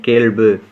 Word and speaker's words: கேள்: இதற்கு என்ன வரும் அப்படின்னா கேள் கேள் இந்த ள் உள்ள உச்சரிக்கணும் கேள் அடுத்தது புலப்படக் கூறுதல் கூறுதல்